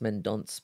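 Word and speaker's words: Mendonça: I mentioned, and Mateus Mendonca, Also pronounced, it was meant pronounced Mendonce, but I don't feel too comfortable saying that. So again, I'm going with Mendonca.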